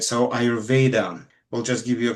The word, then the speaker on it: Ayurveda: So human being at, and then, because the original way to pronounce this is Ayurveda.